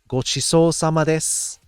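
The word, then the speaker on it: ごちそうさまです: yes so now we have time now i'll pronounce it for you gochiso samades which is sort of like saying thank you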